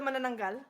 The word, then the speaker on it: manananggal: Yeah, we don't have hard vowels in the Philippines, so whenever you see when you ever see any of the vowels, it's not pronounced a, it's just ah, so it's manananggal, not manananggal, it's manananggal.